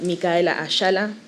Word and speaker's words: Michaela: So, my name is actually pronounced Mika Aella, but I just say Michaela.